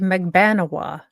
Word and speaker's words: Magbanua: Playboy thing yeah yeah and her name is pronounced magbanua you know Maga okay sure okay sounds good